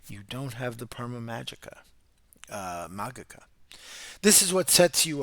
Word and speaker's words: Magica: You can generally see that in Magica, I could get rid of that soft G. An ecclesiastical Latin speaker, and I have to get used to that classical Latin.